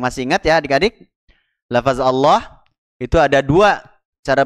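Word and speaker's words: الله: fathah ada yang masih ingat ya adik-adik lafaz Allah itu ada dua cara bacanya ada yang ditebalkan ada yang ditipiskan bacanya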